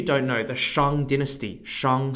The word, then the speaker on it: Shang: of you who don't know the Shang Dynasty Shang spelled s-h-a-n-g was the second recorded Dynasty in